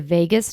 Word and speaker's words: vagus: So you might have heard of the phrase the vagus nerve. It's spelled not like Las Vegas, it's spelled v a g u s.